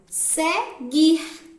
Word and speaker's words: seguir: é pronunciar segunda palavra seguir não sai o som do grupo pronunciem aí gui não sai o som da letra u então a palavra seguir